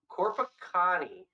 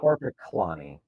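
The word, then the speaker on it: Korpiklaani: Wow, Corpacani. Is that how you say it? Corpacani? Corpaclani. There is an L.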